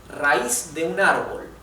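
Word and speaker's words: raíz: root of a plant so here we have another ayatus a and I they are separated in different syllables and the I which is the weak syllabus the weak vowel is where the the accent or the stress or the intonation goes okay rice so therefore it carries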